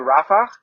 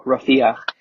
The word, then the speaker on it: Rafah: And it was starting to come on with me just before I went to Rafah, or Rafiah, however you pronounce it. And one is the Arabic way, one's the Hebrewish way.